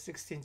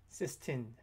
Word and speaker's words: Sistine: Michelangelo's 16 Chapel. Not 16, Sistine Chapel. My pronunciation.